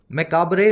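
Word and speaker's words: macabre: मकाब word तो खास ध्यान रखना, मकाबरे लिखा जाता है और मकाब बोला जाता है, देख रहे हो, मकाबरे, मकाब, ये आर ई दोनों साइलेंट है।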